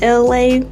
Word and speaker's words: Elay: This is Elay, pronounced like LA like the city.